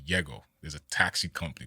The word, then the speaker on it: Yego: Like Y-E-G-O. Yeah, and it's funny because in Spanish, J-E-G-O is would be pronounced not Jego, not Yego, but like Hego. Like the J is like silent.